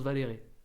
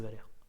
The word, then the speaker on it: Valère: et du coup genre je prononce valéré par je suis un peu de merde tu vois je savais pas laisser le bénéfice du tout tu me dis dans c'est Valère vous connaissez pas moliard